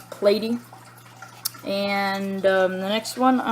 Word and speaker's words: platy: Some people call them platies, but they're really supposed to be pronounced as platy.